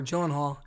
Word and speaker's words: Gyllenhaal: Or Gyllenhaal.